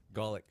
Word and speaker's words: Gawlik: Gawlik.